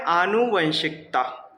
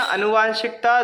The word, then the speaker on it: आनुवंशिकता: Chapter का नाम है आनुवंशिकता। आनुवंशिकता या अनुवांशिकता दोनों ही लिखे जाते हैं, गलत नहीं है।